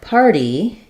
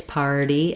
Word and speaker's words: party: So when you're saying something like party, you're noticing that it's difficult to put the T in the same place, party, as we would in something like better. Our T can go right behind the teeth. In party, we do have to cheat and pull the tongue a little further back to make that flap.